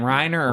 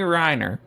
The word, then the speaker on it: Renner: How do you say his name? Reiner or Renner. Renner.